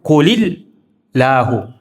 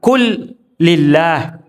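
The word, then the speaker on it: قل الله: Qul Allah itu kalau dibaca berhenti, tapi kalau dibaca nyambung, qulil lahu. Qulil lahu. Ada orang kadang baca qul lillah. Qul lillah berarti salah kalau dibaca qul lillah.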